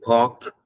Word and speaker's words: park: I walked to the park yesterday that that word is not Park okay don't pronounce the r they have to say